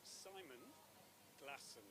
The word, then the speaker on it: Glasson: I want to make sure I pronounce it properly. right. It's Simon Glasson.